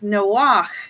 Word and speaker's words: Noach: It is from a root word that is actually, it's Noach is how you pronounce it in Hebrew. It's not Noah, but it's the CH sound.